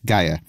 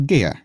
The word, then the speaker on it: Gaia: to the gaia hypothesis in which case its pronunciation is gaia rather than the more classical gea there are a number